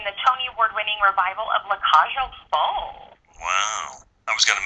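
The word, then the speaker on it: La Cage aux Folles: tony award-winning revival of le cajo fall wow i was going to mispronounce that anyway i'm glad you said it i was going to say la cajo and that's the way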